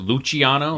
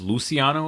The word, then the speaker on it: Luciano: In the movie they pronounce it luchiano, like it's spelled, but it's Luciano apparently.